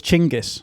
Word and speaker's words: Genghis: So, I think the official the top-level autistic pronunciation is Genghis Khan. So, we're going to Genghis Khan. Isn't it I thought it was Chinggis. Chinggis. But you're saying Chinggis. Chinggis. Chinggis Khan. Chinggis Khan. Right.